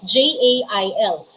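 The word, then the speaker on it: gaol: of rain clouds gray shop american english it is spelled as j-a-i-l spelling in british english pronunciation or in filipino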